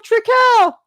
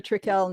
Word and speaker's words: Trekell: Do you get recognized if you go to an art event or people will be like, "This is Courtney from Trekell"?